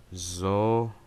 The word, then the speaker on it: Zoroark: No, it's pronounced Zoroark.